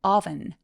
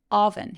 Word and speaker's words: oven: 그래서까지 느껴지는 이중모음 이고요 오븐은 oven oven 해서 턱이 길어지는 오예요 그래서 우리가 너무 잘